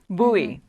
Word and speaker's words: Buie: yeah is that correct did I say it right buoy is your last name yes that's my last name Harriet thank you for